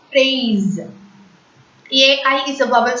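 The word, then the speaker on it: fraise: So, phrase. And hope you remember this rule. If S comes between the vowel sounds, S will be pronounced as is. So, F-R-A-I-S-E is pronounced as phrase.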